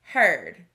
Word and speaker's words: heard: our next word is heard this word has a vowel team ea that we learn sounds like a long e but in this word we hear er that's tricky so the word